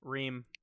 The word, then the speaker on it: Ream: Ream.